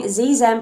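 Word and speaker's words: xe: struggled with this but it's pronounced with a z z z pronouns and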